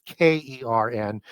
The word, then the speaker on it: Cern: And the Etruscan equivalent to that would be CERN, C-E-R-N, sometimes K-E-R-N, pronounced Kern.